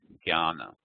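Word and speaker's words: ज्ञान: And this combination of J, N with a tilde, and is pronounced like gya. So therefore we have jnana, like jnana yoga.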